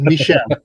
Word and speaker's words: Michel: is pronounced bubble and his first name is Michelle Michelle bubble Michelle bubble